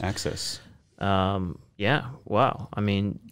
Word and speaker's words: AXS: highly anticipated release highly anticipated yeah so it's their gx version of access axs pronounced access access um yeah wow i